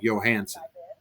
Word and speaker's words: Johansson: named callie johansen and i know for a fact that johansson is pronounced johansen what is this nonsense